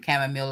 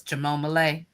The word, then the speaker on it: chamomile: All right, I had to laugh because somebody made a video and I think they did it on purpose mispronouncing chamomile as chamom and I laugh so hard.